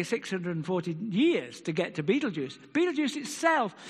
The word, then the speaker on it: Betelgeuse: One star is Betelgeuse, spelt by in the German, pronounced Betelgeuse.